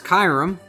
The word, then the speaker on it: Kyurem: This is Kyurem. Ooh. I think is how you pronounce it.